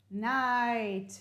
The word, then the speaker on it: night: beginning of the lesson we talked about the word night night you hear the sound i but don't pronoun none of these should the g and the h should be pronounced in none of these words night light right right